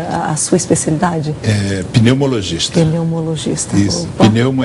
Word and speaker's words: pneumologista: Hoje também aqui Alexandre Milagres, que é neumatologista, opa, coordenador do Centro de Apoio ao Tabagismo. É assim mesmo que pronuncia a a sua especialidade? Eh, pneumologista.